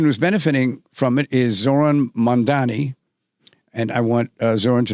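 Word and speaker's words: Zohran Mamdani: So, so now we've eliminated him and there's this trend and the person who's benefiting from it is Zoron Mandani and I want Zoran to know that I pronounced his name correctly.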